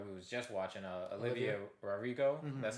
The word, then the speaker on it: Olivia Rodrigo: about that girl who was just watching uh olivia rodrigo that's how you say her name yeah um